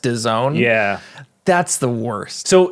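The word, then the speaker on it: DAZN: No I just learned this week that it's pronounced Doone yeah that's the worst so so in Canada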